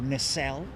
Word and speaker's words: nacelle: Oh, look, she's got a replacement nacelle on her. Or nacelle, as it should be pronounced in Blighty.